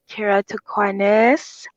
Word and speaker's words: keratoconus: I'm good, but I am suffering a bit from a condition called keratoconus, which is putting how's it me spelled? How's it pronounced?